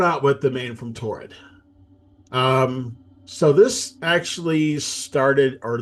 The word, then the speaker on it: Taured: presents a passport from Torrid, Yep. a country that Not the store Torrid, no, but more it's like tourist, spelled more like tourist.